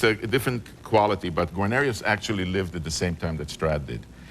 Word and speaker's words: Guarnerius: No, actually, this one is a Guarnerius.